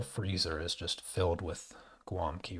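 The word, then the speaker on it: gołąbki: out laughing because um, the W sound is spelled with L, which is the letter L with a slash through it, and that if you can hear the difference, L and L, so you can hear a little bit of a W sound there. Well, that L is pronounced as a W because W is pronounced as a V.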